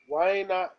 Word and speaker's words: النَّظَارَةُ: So, Waina Nazaratu. وَأَيْنَ Nazaratu. النَّظَارَةُ؟ Waina نَن ألف لام النَّظَارَةُ. is silent because نون is شدة.